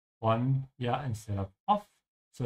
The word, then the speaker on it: von: Bist du ein Freund von Jesse? Are you a friend of Jesse's? Notice how in German you say von, yeah, instead of off. So it's like saying from. And the B is pronounced like an F if you're a beginner,